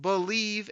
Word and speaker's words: Bleav: you about my other lions podcast it's called believe in Lions that's spelled bleav v on the believe podcasting network